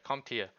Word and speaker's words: CompTIA: Also made me look into, I don't know how to pronounce it. Is it CompTIA? Yeah, CompTIA.